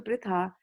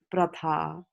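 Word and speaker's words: Pṛthā: So if we are pronounced in Krishna, if you are saying R as Ri, then in Pritha also we will say it R as Ri, right?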